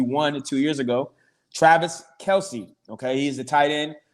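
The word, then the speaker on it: Kelce: and he said that his name is not pronounced kelsey it's travis kels kels doesn't that doesn't that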